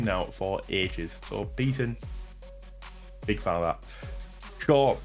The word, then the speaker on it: Beaton: So Beaton, big fan of that.